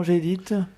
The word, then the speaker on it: Gdit: Donc Gédite, ça s'écrit G-D-I-T.